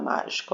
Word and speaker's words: mágico: Quantas sílabas tem a palavra mágico? Ó, 1, 2, 3. 3 sílabas. E qual que é a sílaba tônica? É a sílaba má.